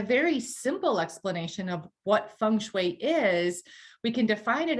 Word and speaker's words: feng shui: and how does it affect our lives so feng shui literally translates to wind and water and it's pronounced feng shui that's a helpful pronunciation there because a lot